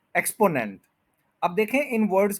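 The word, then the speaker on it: exponent: तो हम इस वर्ड को कहते हैं एक्सपोनेंट, एक्सपोनेंट, एक्सपोनेंट। लेकिन जब हम प्रोनाउंसिएशन वाली फील्ड में आते हैं तो पता चलता है कि इसके थ्री सिलेबल्स हैं, वन टू और ये थ्री है।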